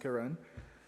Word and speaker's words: Karen: so my portion is the karen tried it's spelled like karen but it's pronounced karen and so um we traveled all morning and